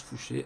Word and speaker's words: Fouché: vous retrouverez un Louis Fouché, comme ça se prononce, Fouché, Fouche-E, S, je crois, à la fin. Louis, voilà, comme Louis, comme tous les Louis. Personne très intéressante, Louis Fouché.